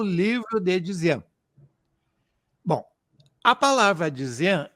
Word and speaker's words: Dzyan: O J, o nosso J, o YJ, lá no tibetano viraria um D e um Z. Então, Dzinana. Mas a pronúncia, Dzinana, acabou dando Dzian.